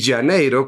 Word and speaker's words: Janeiro: Pero si lo pronuncias en portugués, dices Rio como si fuera una J la R y Janeiro como si fuera una Y la J.